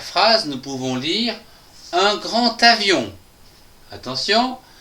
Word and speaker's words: grand avion: Dans la première phrase, nous pouvons lire un grand avion. Attention, ici nous avons une liaison des A qui se prononce T. Un grand avion.